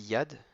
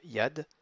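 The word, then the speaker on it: יד: mains donc une main ça se dit yad c'est youud avec un kamas et un det avec rien du tout donc ça donne juste yad ça signifie une main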